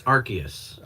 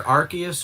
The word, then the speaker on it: Arceus: What is the actual pronunciation? I believe it's Arceus.